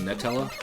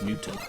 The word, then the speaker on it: Nutella: Well, Nutella did the same thing because people kept calling it Nutella. It's Nutella. Nutella. They actually came out and were like, "Can you stop saying our name wrong? It's Nutella."